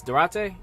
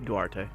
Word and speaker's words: Duarte: Durante, is that how you say his name? Duarte.